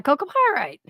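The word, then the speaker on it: chalcopyrite: Yeah, Coco pyrite. That's how you pronounce it.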